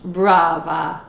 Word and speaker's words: brava: me oh mrs talbot brava oh blah blah oh thank you bravo to you too you gotta roll your r though you're better at that can you roll your r with the brava blava yeah pretty good there